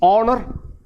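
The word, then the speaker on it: honour: tend to pronounce it as climb no that is silent again we have the same in h-o-n-o-u-r it is honor we have c-h-r-i-s-t-e-n it is christen and not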